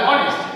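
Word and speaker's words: honest: এখানে দেখো অনেস্ট উচ্চারণে এইচ এর উচ্চারণটা হচ্ছে না, সাইলেন্ট, দ্যাট ইজ আন্ডারস্টুড। এখানে আসছে হয় ও এর উচ্চারণ, তাহলে অনেস্ট।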